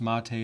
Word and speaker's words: MATE: have the cinnamon release mate' that's pronounced Mattei in the linux world we pronounce things differently than you would expect then we also have